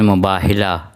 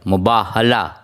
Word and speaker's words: مباہلہ: اللہ الرحمن الرحیم۔ دیکھیے، ہم لوگ عموماً جو لوگ صحیح تلفظ سے نہیں بولتے ہیں، مجھ سمیت ہم لوگ لفظ استعمال کرتے ہیں مباہلہ، یعنی ہے کے نیچے زیر نہیں ہے، زبر ہے۔ میم کے اوپر پیش مباح، بے کے اوپر زبر ہے مباح، اور ہے کے